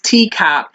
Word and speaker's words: TECOP: The next one is TCOP. The acronym is spelled TECOP, and it's an acronym for technical, environmental, commercial, operational, and political.